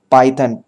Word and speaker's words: Python: पाइथन, पाइथन PH नहीं PI, पाइथन। तो हमने क्या किया, उसको उसके प्रोनाउंसिएशन स्टाइल में लिख दिया, तो उसको फोनोग्राम बोलते हैं।